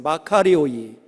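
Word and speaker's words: μακάριοι: 마카리오이, 마카리오이. 이게 복되다, 축복이 있다, 이런 뜻입니다. 마카리오이. 뒤에 오하고 아이가 있죠. 호이라고 읽습니다.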